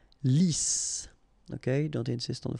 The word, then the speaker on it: lisse: Lisse. Double S here, so it's really a strong S. Lisse.